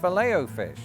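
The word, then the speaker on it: Filet-O-Fish: It's pronounced fileo fish, the French word. With a lot of French derived words, I do like to try to get the pronunciation closest to French as possible.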